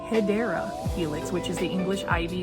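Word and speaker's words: Hedera helix: This one is a Hedra Helix. So, um, for those that don't know, that is not the correct way to say hideera helix, which is the English ivy.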